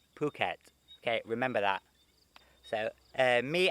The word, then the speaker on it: Phuket: city in thailand like phuket it's not phuket like ph it's not fur it's phuket phuket okay remember that so